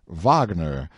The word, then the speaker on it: Wagner: and thereafter call him Vagner as per German custom for I feel entirely friendly now the minute we get reconciled to a person how willing we are to throw aside little needless punctilios and pronounce his name right of course I came